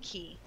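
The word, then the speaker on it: cay: It's pronounced Key. Like, if you ever go to the Caribbean, everything's spelled C-A-Y, but they pronounce it Key.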